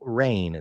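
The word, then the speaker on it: Reign: she was officially picked up by the Seattle rain that is spelled reig GN not rain as in what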